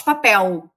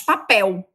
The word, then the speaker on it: papel: No Brasil nós não falamos papel, como os portugueses, nós falamos papel, não é? É quase um U. Na verdade, é uma semivogal que a gente pronuncia, como se fosse uma semivogal, mas pronunciamos com o U.